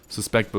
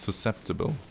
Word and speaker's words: susceptible: Suspectable is pronounced susceptible.